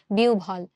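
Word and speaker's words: বিহ্বল: বলি অথবা রসভ বলি এখন এখানে দেখো বিয়ভল বলি না আমরা কি বলি বিউভল সানসার হচ্ছে আমাদের বি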